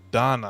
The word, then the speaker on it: Donna: Your name is not pronounced Dana. It's Donna, I believe.